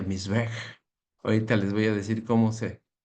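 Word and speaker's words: מזבח: Eh, bueno, así se pronuncia Misbej.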